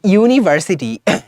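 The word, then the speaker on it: university: সো ইউ ইউনিভার্সিটি হ্যাঁ Yuta you এর মতোই উচ্চারণ হচ্ছে সো দ্যাট ইজ হই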